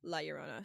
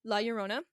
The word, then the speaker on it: La Llorona: So La Llorona can be pronounced 2 different ways. It's La Llorona or La Llorona. I've heard it said 2 different ways. I think it depends on what dialect you're speaking.